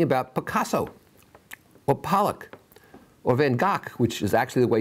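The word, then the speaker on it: Van Gogh: you know anything about Picasso well Pollock or van gock which is actually the way you pronounce me and goes name do you know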